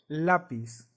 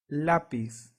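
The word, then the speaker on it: lápiz: in Spanish sounds like ele and it's similar to the one in light so an example in Spanish will be the word lapis lapis so remember the sound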